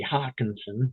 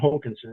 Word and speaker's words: Hokinson: John Hokinson, or if you pronounce it phonetically, it would be Hawkinson, but John Hokinson, a dispatcher in Tacoma.